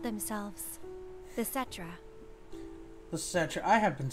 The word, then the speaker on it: Cetra: The Cetra.